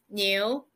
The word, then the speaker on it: 牛: is the the simplify the Chinese it is pronounced as the new new it means ox let's see how it